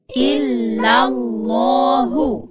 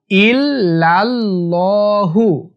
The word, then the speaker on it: ইল্লাল্লাহু: ইল্লাল্লাহু। এখানে অনেকে ইল্লাল্লাহু বলে, ইল্লাল্লাহু এরকম বলে, এটা ভুল। সঠিক উচ্চারণ হচ্ছে ইল্লাল, ইল্লাল্লাহু।